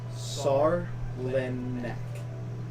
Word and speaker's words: Sarlenek: So, Sarlenek. Sar. No, not sad. Sar. Sar. Lin. Len. Ek.